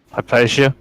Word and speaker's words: Hypatia: How do you pronounce it again? Hypatia.